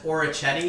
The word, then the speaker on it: orecchiette: So it's orecchiette For con. those Americans, that's orecchiette.